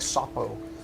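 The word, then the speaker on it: Šopo: is uh uh it's it's spelled s-o-p-o but the o has the two uh indentations on the top so it's like shapo um uh he's following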